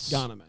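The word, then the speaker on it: Ghanimé: Ganemy. Well, there you go. You get it. There's an accent on the E. Yeah, Patrick. That's the key. Oh, so it's like instead of a E, it's a A.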